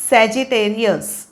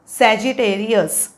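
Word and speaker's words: Sagittarius: spelling पण मोठा आहे उच्चार पण जरा वेगळा आहे बघूया सॅ जी ते री अ सॅजिटेरियस सॅजिटेरियस सॅजिटेरियस काय तारखा आहेत नोव्हेंबर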